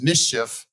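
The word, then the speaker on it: MSCHF: the first is uh Nike versus uh it's pronounced mischief product Studio it was a uh a case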